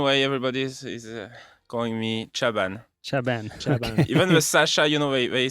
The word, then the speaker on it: Chaban: Chaban in French, but Chaban Chaban. in English, I guess.